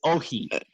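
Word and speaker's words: Όχι: He says "ohi," which is spelled O-X-I. It means no in Greece.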